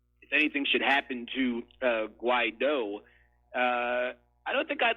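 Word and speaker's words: Guaidó: Forgive me for being pedantic, but it's actually the surname is actually pronounced Guaido, with the emphasis on the O.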